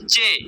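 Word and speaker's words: چ: এরপরে হার মতো টান, হা, এর নিচে 3 নুক্তা, এটার নাম হচ্ছে চে, চে।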